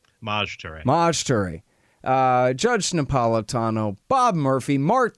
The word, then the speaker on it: Maj Toure: How do you say, is it Maj Toure? Maj Toure.